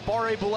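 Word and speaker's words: Barré-Boulet: I just go from one French pronunciation to another, but this one's real. Uh Barre Boule is a guy that you need to make sure you are covering on this power play.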